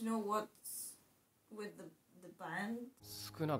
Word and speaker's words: Sukuna: So, it is Sukuna.